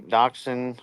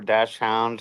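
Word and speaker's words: dachshund: have been strictly a Doxon or dashound however you want to pronounce it owner uh for over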